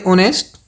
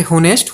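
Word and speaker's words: honest: Okay नेक्स्ट वन 03 find the article सभी जानते हैं भाई ऑनेस्ट नॉट ए होनेस्ट लिखने में क्योंकि इसका एच क्या होता है? साइलेंट रहता है।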